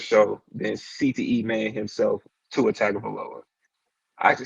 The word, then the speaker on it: Tua Tagovailoa: on the sports show than CTE man himself, Tua Tagovailoa. I actually said that right. That's the first time I've actually pronounced his name right.